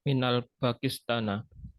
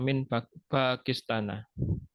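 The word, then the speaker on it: من باكستان: Nah, bukan minal, tidak ada alif lam. Nah, harus Apa, hati-hati, harus teliti ya. Adunnu annaka min Pakistana. Baik.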